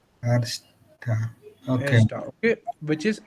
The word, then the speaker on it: erster: is erster, Arsta. Okay. erster. Okay, which is eins. Okay. So pronunciation also different.